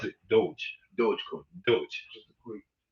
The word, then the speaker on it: Doge: Hey, as they pronounce it, Doge.